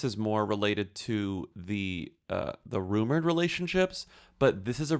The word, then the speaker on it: RMR: Well, I guess it's relevant that his name is Rumor. Mm-hmm. His name is RMR, but it's pronounced Rumor.